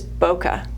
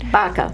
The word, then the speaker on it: BACA: And then one other foundation that I know you're working on, so many, but one more is BOCA. Is it BOCA? BACA. BACA.